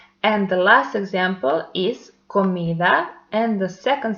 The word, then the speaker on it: comida: So pronounce these words by yourself and you will see that the stressed one is the syllable where we put more intensity. So once more we pronounce this word comida.